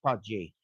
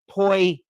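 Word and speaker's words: potjie: got enough comments that yes in fact it is that it is uh pronounced py poi or py even though it is spelled uh like I just uh spelled it out in the in the chat.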